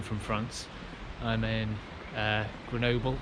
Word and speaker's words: Grenoble: France I'm in uh Grenoble or as the French seem to pronounce it greno uh at the moment